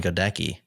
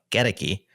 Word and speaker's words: Goedecke: The only problem is I've been pronouncing your name Sean Godki in my head. And now after years of reading you, I know it's Sean Geti.